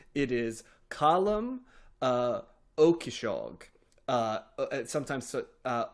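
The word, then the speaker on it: Ó Cíosóig: point to make sure that I got the pronunciation correct on this because it's a very Irish name it is column uh okishag uh sometimes uh okisog uh it's you know got a little bit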